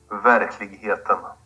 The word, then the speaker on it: Verkligheten: And please, go ahead and pronounce the record, because I'm failing every time I try. Verkligheten. Verkligheten.